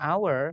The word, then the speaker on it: hour: itu jam kan hour tulisannya hour nah awalnya H tapi karena bacanya our maka pakaian hour 1